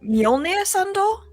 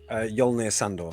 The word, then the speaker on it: Mjolnir Sandor: Did you say his name was Mjolnir Sandor? Yolnir Sandor. Yolnir. Sandor, Sandurr. Cool.